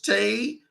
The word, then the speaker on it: Tassohl: It's French. Everybody gets it wrong. It's TASSOHL. It's pronounced Tasso.